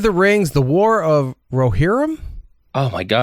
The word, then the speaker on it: Rohirrim: Lord of the Rings: The War of Rohirrim.